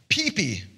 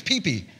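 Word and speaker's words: ΠΙΠΙ: And this word in Greek is pronounced pee-pee. No, I'm serious, pee-pee.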